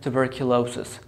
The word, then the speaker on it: tuberculosis: Question number two, which syllable is stressed? Here I have two stresses. I have primary stress, I have secondary stress. Because it's a long word, so we have two stresses. So I say tuberculosis.